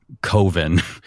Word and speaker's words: Coven: um called Coven um which he pronounces that way cuz coven rhymes with oven.